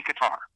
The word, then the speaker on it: Qatar: We can just say Qatar. It's like guitar.